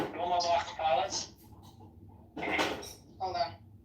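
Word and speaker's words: Dolmabahçe: It's Dolmabach Palace. Hold on. Dulmabah.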